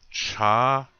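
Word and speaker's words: čha: It says cha. You see that? The C with the circle over it, an A. That's cha.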